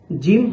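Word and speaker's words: ج: সা সা এরপর জিম জিম এখানে জিম হরফটি উচ্চারণের সময় খেয়াল রাখতে হবে যেন শক্তভাবে উচ্চারণ হয় এবং বাতাস না বের হয়।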